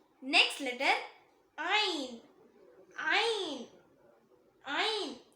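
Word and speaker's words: عين: Next letter ஐன் ஐன் ஐன். இத தொண்டையோட மிடில்ல இருந்து வரும்.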